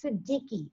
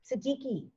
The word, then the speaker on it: Siddiqui: a question right now sherry the name is Siddiqui I'm gonna spell it for you in case it makes an energetic difference for someone who does words its essence am i DDI Qi Siddiqui Siddiqui ray says my question is my migraines